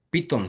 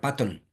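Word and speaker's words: Python: lo que se llama piton se escribe en español así pero se pronuncia paton Sí entonces este Este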